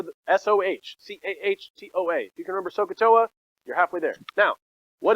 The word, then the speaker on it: SOHCAHTOA: it too much but thank you now so sohcahtoa is what you need to remember i'm going to show you how to use it but remember the s-o-h-c-h-t-o-a you can remember sokatoa you're halfway there now what does it mean